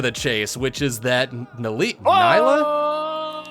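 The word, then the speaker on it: Nilah: chase, which is that Nyla? How do you pronounce that champion's name? Neela. Neela. I She was says sort of Neela. close. She says Neela. Okay. I am confident in that pronunciation.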